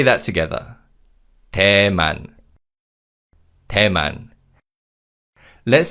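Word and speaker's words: 대만: Tman.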